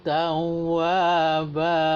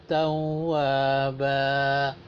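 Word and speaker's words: تَوَّابًا: Jadi bacanya innahu kana tawwaba. Sama panjangnya wa dengan ba-nya itu. Ya. Pendek kali pun tak boleh juga.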